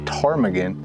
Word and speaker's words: Ptarmigan: And I can't blame them, because I had no idea that Ptarmigan started with a P.